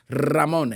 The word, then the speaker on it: Ramon: The R stands for Ramon, and you can roll your R's if you want to or you don't. But if you roll your R's with Ramon, you've got to roll it with.